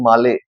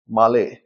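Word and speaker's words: Malé: है कैपिटल आगे इनकी माले, MALE, माले, मेल नहीं है, ये एक साइन होता है, ये ले की वो दे देता है, प्रोनाउंसिएशन देता है, इसके माले है।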